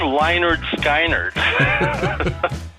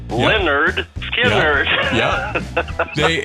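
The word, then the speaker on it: Lynyrd Skynyrd: of them said who's leonard steiner i thought oh that's appropriate they have they have an album that says pronounced leonard skinner i remember actually seeing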